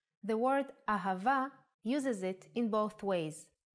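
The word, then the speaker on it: אהבה: The word ahava uses it in both ways. When hey appears in the end of the word, it will always sound as a. Ahava is love in Hebrew.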